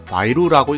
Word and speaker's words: 白鹿: 흰 백자와 사슴록자를 사용하여 하얀 사슴이라는 뜻을 가지고 있으며 중국어 원음으로는 마이루라고 읽습니다.